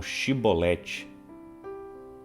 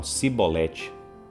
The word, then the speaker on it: shibolete: Então, os gileaditas falavam shibolete, mas os da tribo de Efraim não conseguiam pronunciar o sh. Então eles falavam cibolete.